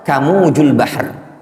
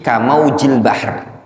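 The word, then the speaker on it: كموج البحر: Kamujul bahr. Kamuj. Ya. Kata syekh tersebut, ini bukan namanya kamuj. Ini apa namanya? Kaf, huruf jar ketemu dengan lafaz mauj. Jadi kamaujil bahr.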